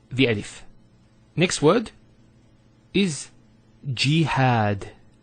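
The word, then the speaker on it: جهاد: So we have here G, that's the first syllable, and then had, jihad. So you notice here we have a fatha on the ha followed by the alif, and that gives the elongation of the A sound.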